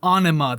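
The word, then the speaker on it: Ænima: It's Aenima. That's what he said, so that's what I'm going by.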